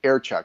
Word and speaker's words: Erchuk: How do you pronounce that? Erchuk. It's Ukrainian.